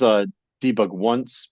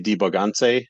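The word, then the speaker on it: debugonce: There's formally this is debug once, but it's really debugance is the proper pronunciation of that. That's from our studio talk in 2020. Someone pointed that out, and I can't not see it now. It's like Beyonce, debugance.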